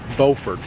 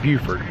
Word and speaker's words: Beaufort: Make sure you pronounce it correctly. Beaufort, not Beaufort.